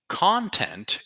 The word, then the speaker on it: content: content so remember here it's not content same spelling different pronunciation content is what you create